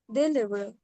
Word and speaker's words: des livres: Des amis, we pronounce Z because we have a liaison. Vowel after silent consonant. Des amis, des enfants, but des livres. here we don't have any vowel.